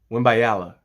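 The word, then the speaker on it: Wembanyama: about is the time Prospect of course Victor wimala wimala yeah I said it right that time call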